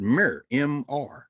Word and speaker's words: mer: the ancient egyptian uh word mer we pronounced it with like mirror because we put a e in because we know where their vowels were the glyphs for the